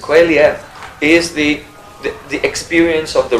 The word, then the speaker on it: qualia: And so Qualia is Qualia, I think is the correct pronunciation. Qualia is the experience of the redness of red.